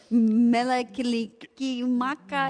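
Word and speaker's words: Mele Kalikimaka: Melakilikimaka.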